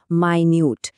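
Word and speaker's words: minute: এই শব্দটার উচ্চারণে একটু খেয়াল করতে হবে। এটা হল মাইনিউড।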